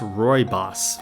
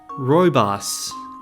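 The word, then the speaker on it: Rooibos: even know how to pronounce that oh it's pronounced Roy boss okay wow I completely made that harder than it needed to be Roy boss uh is a broom like member of the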